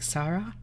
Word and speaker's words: Sara: Is it like long A, like Sarah? Sarah? Or I mean, in Portuguese you roll R's as well, so like Sara? Yeah. It is really pretty. So it fits you. You can just use the English pronunciation, though.